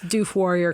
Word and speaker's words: Doof Warrior: We cannot figure out how to pronounce Doof Warrior correctly. Yep. We've been told it rhymes with roof and poof.